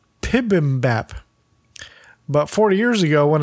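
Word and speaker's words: bibimbap: this dish of mixed rice and vegetables is pronounced more like pibm Bap but 40 years ago when American culture started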